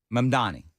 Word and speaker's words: Mamdani: Mamdani.